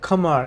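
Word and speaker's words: Khmer: The Meong Delta was once part of Kamar Empire or it's spelled as KH Her, but over time it became Vietnamese territory.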